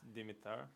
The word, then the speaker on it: Damita: asked him to please give his name and pronunciation thank you for the opportunity to testify my name is Damita di mi ta our coach ro ke o